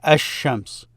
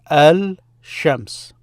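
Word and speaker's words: الشمس: But the reason for it is this L is fused with it.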